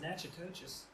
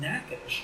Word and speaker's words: Natchitoches: know anything about this Natchitoches noisette?" And they said, "Well, the first thing is you're pronouncing it incorrectly." And those Louisiana gardeners are so polite, thankfully. They said, "That is pronounced Natchitoches."